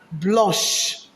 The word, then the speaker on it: blanche: But when it's feminine, it's pronounced as blanche. When it's feminine, it's pronounced as what? Blanche.